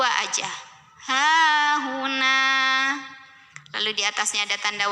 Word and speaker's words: هاهنا: Nah juga sama ya, mad tobi'i karena ada alif yang didahului fathah, maka dibacanya panjang 2 harokat. Berhenti ataupun tidak berhenti di sini 2 aja. Hahuna.